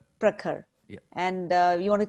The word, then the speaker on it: Prakhar: Well, Prakhar. Okay, Prakhar, tell me whether you're Prakhar, how do you pronounce your name? It's Prakhar. Prakhar.